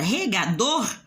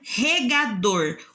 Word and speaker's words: regador: forte nem lugar mas o dor já sai mais forte já dá um som mais forte para palavra então regador odor é o mais